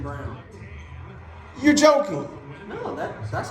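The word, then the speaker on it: Braun: a n it's not brown yeah but they pronounce it Christian Brown you're joking no that that's it's brown Minnesota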